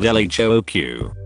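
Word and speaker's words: L.H.O.O.Q.: and a wee goatee the letters in the title when pronounced in french sound very like she has a hot ass literally yes though it's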